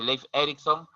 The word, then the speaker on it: Leif Erikson: Berlin Borges, Eric el Rojo, Bergin Herholm Fonson, bueno, se pronuncia Leif Erikson y Thorfinn Karlfeldt.